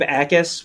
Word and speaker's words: Jacas: Gabe Acas, which his last name is spelled Jacas, but the J is silent, which I'm glad I